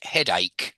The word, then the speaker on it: ache: Do you have head chase or any other aches or pains Aches. Yeah, or aches? you're pronouncing it like it's written, and unfortunately, it's never pronounced how it's written in English.